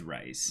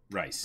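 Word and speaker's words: Reiss: I think it's Rice. Or Rice. Because someone was reminding me in Ruby, Weiss's name is spelled the same way, just with a W.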